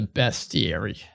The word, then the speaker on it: bestiary: Which is how you say that word, apparently. Yes. And I hate it. Bestiary. There is no A there, so it makes sense, but there are beasts in it.